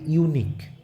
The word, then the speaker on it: unique: আমি যদি বলি ইউনিক, UNIQUE, ইউনিক, তো ইউটা দেখো ইউ এর মতনই কিন্তু উচ্চারণ হচ্ছে, তার জন্য কিন্তু এখানে তার আগে এ বসবে, এ ইউনিক।